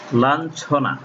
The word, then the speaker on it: লাঞ্ছনা: যেমন লাঞ্ছনা, এই যে ইয়ের পরিবর্তে ন হস্যন্ত হয়ে গেছে।